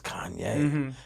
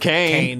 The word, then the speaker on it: Kanye: No, she probably still thinks it's some dude Named Kane. Yeah, She probably think it was Kane. Kane West. It's so funny for someone to mispronounce Kanye West's name, dude. Kane.